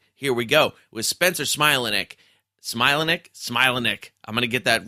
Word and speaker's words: Smilanick: Spencer Smilanick, a.k.a. of the Pirates, Charles. Let me help some pronunciations. Yes. So the last name, my natural last name is Smilanick, like a smile.